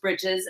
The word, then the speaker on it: breeches: not pronounced britches and I looked it up and it is pronounced britches and I was like